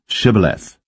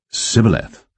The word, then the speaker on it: Shibboleth: Then said they unto him, Say now, Shibboleth. And he said, Sibboleth, for he could not frame to pronounce it right.